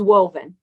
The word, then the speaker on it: Rovn: This is Woven, okay? And it's spelled ROVN.